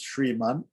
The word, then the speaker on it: Shriman: Or it's, the way it's pronounced is Shriman with the Sandhi, Shriman Narayana Charanashanam Prapadye.